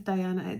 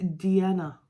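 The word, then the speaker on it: Deana: Now it's not Diana, it's not like Diana, like Princess Diana, it's Diana. Diana. So it's D-E-A-N-A, Diana.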